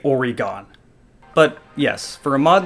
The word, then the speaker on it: Oregon: Midwest yes it's pronounced Oregon no it's not pronounced Oregon how did you get already gone there's not an e at the end of it why are you saying